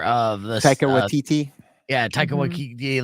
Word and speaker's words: Taika Waititi: Yeah, Taika Waititi, like it's that style of New Zealand comedy.